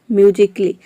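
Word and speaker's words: musically: यदि किसी वर्ड में ए के बाद डबल एल वाई हो तो वहाँ पे ए लेटर साइलेंट रहता है, ए को प्रोनाउंस नहीं करते हैं। For example म्यूजिकली।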